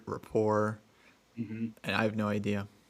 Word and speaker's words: Rapport: i've heard like uh rapport rapport and i have no idea i asked and i was told it's like the t is pronounced so it's not i mean like a french word right developed a nice rapport